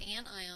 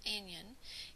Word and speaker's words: anion: I on the other hand and it is pronounced anion and not in yin is an atom that it's gained electrons and